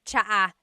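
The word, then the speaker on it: tsaa: good almost polyglot said it's like the word cha cha in Tagalog is T like the tea that you drink and it's spelled TSA a cha cha that's such a talug spelling I love it there's the TS sound and then the double vowel uh pronunciation cha it's so talog yes very good what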